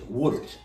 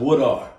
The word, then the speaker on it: Woodard: My sister told me, you don't pronounce it right. It's Woodard. We argue about it. I said Woodard.